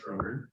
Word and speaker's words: Schroeder: So how do you pronounce your last name? Schroeder. All right. So I've been saying it wrong.